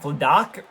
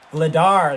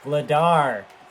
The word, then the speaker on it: Vladar: It's not Vladak or Vladik or whatever that goalie's name was, who was absolutely unreal for them. Vladar, that's what it was. Vladar.